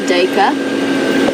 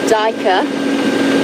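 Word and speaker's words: duiker: common or a gray DEA and Ruth in the UK you've picked up on the fact that it's pronounced in two different ways by different people one is Dea the other is daer and you were wondering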